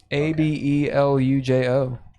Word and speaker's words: abelujo: No, in Esperanto, that's how you pluralize a noun. Oh. Abelujo. And you put a J in front of that.